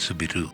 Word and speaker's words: Soubirous: In 1844, Marie-Bernarde Soubirous (pronounced “soo-bee-roo”) was born to the family of a poor miller in the small town of Lourdes in France.